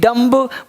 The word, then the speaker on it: dumb: DUMB डम्ब बोलेंगे डम, बी रहेगा चुप, डम मतलब गूंगा।